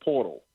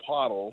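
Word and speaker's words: Poeltl: to pronounce this game it's portal or pole uh purle P there's no R but somehow there's an r in the pronunciation Chuck so it's not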